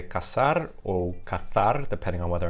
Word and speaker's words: caçar: Spanish I would say caçar or cazar, depending on whether I'm from Latin America or Spain. And then in Portuguese I say caçar, and that has the the C with the cedilla.